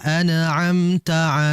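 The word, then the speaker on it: أنعمت: lama, mengalir yang sedang sehingga merupakan kesalahan kalau kita membacanya dengan memantulkan. Ini yang sering terjadi. Sirathalladzina anamta alaihim anamta. Tidak boleh dipantulkan. Yang betul ditahan. dengan tahanan itu dia mengalir. An an'amta an'amta itu yang betul ya.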